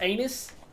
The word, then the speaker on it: Aenys: I literally think it's pronounced anus, but it sounds too close to anus. Anus with a Y versus anus in your butt.